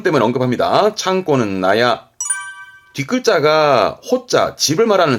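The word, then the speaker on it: 納屋: 놔두는 건물 즉 창고나 헛간 있데 창고나 헛간 발음이 나야 도라가 발음이 나가 와서 나야 발음 때문에 언급합니다 창고는 나야 뒷글자가 호자 집을 말하는 집 자인데 요걸 언급하는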